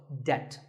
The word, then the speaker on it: debt: find yourself in debt the B is silent in this word so debt if a debt is